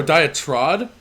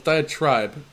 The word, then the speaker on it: diatribe: Well, but then I pronounced Oh, diatrod? Diatribe. No, it's different. No, it's diatribe.